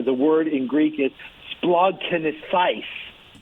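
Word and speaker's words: σπλαγχνίζομαι: They invented a word and I'm going to pronounce it here. The word in Greek is splagchnizomai.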